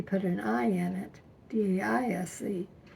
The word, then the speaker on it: Daise: And when he came out there, he put an I in it, D-A-I-S-E. And all of Granddad's descendants, we pronounced it Daise. But whenever he talked about it, he'd call it Daise.